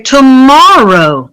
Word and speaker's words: tomorrow: If we say tomorrow, tomorrow, we have 3 syllables, and we're going to stress the second syllable.